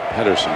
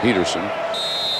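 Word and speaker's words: Pederson: Wildcats have decided to punt, and Ryan Peterson, may have called him Pedersen once incorrectly in the first half, so let me correct that. It is Peterson. Spelled with the D, pronounced Peterson.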